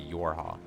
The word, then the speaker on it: YoRHa: It should be easy. It'd just be Yorha.